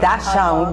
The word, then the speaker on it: dachshund: The long-bodied short dog is often called dachshund, but the real pronunciation is dachshund, or something to guide